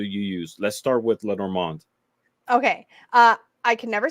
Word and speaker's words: Lenormand: So you started a series on Lenormand.